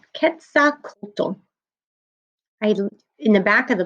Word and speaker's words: Quetzalcoatl: And it's pronounced, let me look at the pronunciation, Quetzalcoatl. Quetzalcoatl.